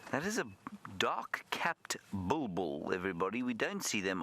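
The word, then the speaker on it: bulbul: b o o no it's not it's a bull bull not a boo boo b u l b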